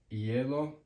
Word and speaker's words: hielo: So an example is ice cream, ice, hielo, hielo. There's no hielo.